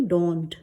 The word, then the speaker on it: dawned: क्या होता है, इसको कैसे प्रोनाउंस करेंगे, डॉन्ट, डॉन्ट, ठीक है।